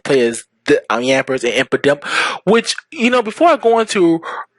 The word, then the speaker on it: Impidimp: It's not Impa, it's Impidimp. Sorry, pronunciations.